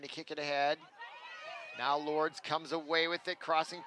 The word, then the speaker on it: Lourdes: substitutions coming in for Lourdes Lourdes sorry shouldn't be the S is silent hard not to do